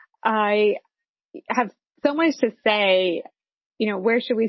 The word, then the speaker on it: Saie: called saie it's uh you may have seen it and not known how to pronounce it but it's s-a-i-e and she's the founder and ceo of say a clean beauty brand